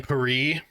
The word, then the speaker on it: Paris: A Netflix show is titled Emily in Emily in Pare, I think, is how you're actually supposed to pronounce that. The title of the show, it's Paris, just like my favorite Star Trek character.